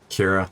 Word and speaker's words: Ciara: Kira, that's how you say it. I thought Ciara was wrong.